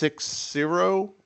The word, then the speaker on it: Sixera: So tell us about, and it's pronounced Sixera. Sixera. Okay. Sixera. I wasn't sure if you're going for like a Cicero type thing or.